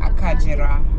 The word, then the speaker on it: Akagera: written a kagera but in kinyarwanda it's pronounced as akajira so you can check